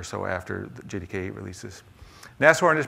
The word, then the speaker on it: Nashorn: it maybe or so after the jdk releases nest warren is pronounced as horn and this is the german